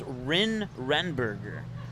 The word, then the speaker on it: Renberger: and 27 is ryan let me look at my pronunciation it's rin renberger rin renberger according to the coach there's a strike one